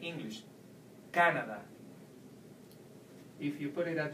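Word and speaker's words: Canadá: Well, if you take away the sound, the tilde, from the word Canada, then you will have to pronounce it like in the vowel rule, like in the amigo rule. So it will be Canada.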